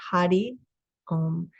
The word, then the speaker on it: Hari Om: Hari om and it's spelled h-a-r-i-o-m but it's pronounced Hadi um so you can chant that to yourself and just feel how that feels in your body as you say those words Hadi um you can turn it into a song and